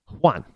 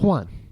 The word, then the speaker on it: Juan: So it's kind of like Juan. Well, we just say Juan. Well, that's not how the name was originally pronounced. But it comes across, across the border, across the pond, and and you get it's all of a sudden it's a W instead of the J.